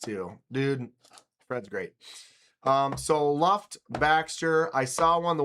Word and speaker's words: Luft: we asked him, we said, all right, how do you say it? And he said, Luft.